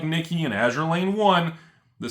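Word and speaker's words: Nikke: Yes, it's pronounced Nikki.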